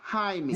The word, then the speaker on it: Jaime: It's It's Jamie, but pronounced Jaime.